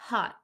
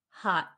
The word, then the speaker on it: hot: for premium members okay you'll learn why we don't pronounce the t at the end of hot okay uh malik said